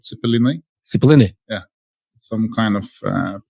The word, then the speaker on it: Cepelinai: Cepelinai.